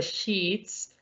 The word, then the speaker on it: sheets: debemos decidir cierto porque esta mala palabra se pronuncia más como con una y una t mientras que esta de sheets la cual es una palabra pues simplemente común que quiere decir las sábanas o incluso una hoja